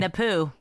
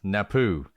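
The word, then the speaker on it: Napue: Napoo. Napoo. Napoo. It is exactly like you would not think it's pronounced. Yes. Napoo.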